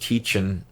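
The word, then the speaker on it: Tietjen: I think their last name is pronounced Teachin, but they just go by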